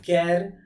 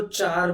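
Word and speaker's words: char: लिए data type है कैर कई लोग इसको चार बोलते हैं ठीक है लेकिन कैर कैरेक्टर का शॉर्ट है कैर उस तरीके से उसको प्रोनाउंस करना चाहिए दैट ऑक्यूपाइड और उसके लिए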